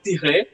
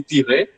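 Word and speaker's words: tiret: The dash is called tirer, and I'll pronounce like that from now on. It will be tirer.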